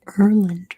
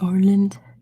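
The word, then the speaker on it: Åland: I believe it's pronounced Erland, right? Erland. The Orland archipelago. Great job, Fear. It's both. No, okay. Thanks, Fear, for correcting me. That's a sound we don't have in English, so I have no idea how to pronounce it.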